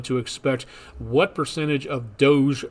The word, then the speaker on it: DOGE: expect what percentage of Doge Personnel or do or doggy I would guess would be another way to pronounce that Personnel cuts and